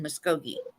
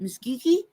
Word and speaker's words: Muskogee: God Tahlequah yeah and um I'm registered in Muskogee and it's so funny to hear people try to say Muskogee Muskogee well they'll be like well how do you say that Miss geeky yeah most definitely if you have to be